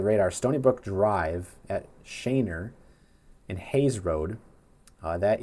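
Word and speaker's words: Schoenherr: Shainer. It's pronounced Shainer.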